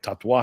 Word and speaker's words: Tatuaje: And he's like, tatuaje. I go, can you spell that?